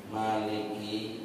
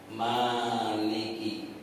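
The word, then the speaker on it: مالك: kita masih membaca ayat Maliki yaumiddin Ya baik kita baca halaman 14 yang berkuasa di Hari pembalasan sebagian ahli qiraat membaca Maliki mimnya panjang Maliki dengan memanjangkan minimnya artinya yang memiliki sebagian lagi membacanya Maliki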